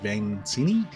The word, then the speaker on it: Vainisi: Today's guest is Samuel, how do you pronounce it? Vainisi.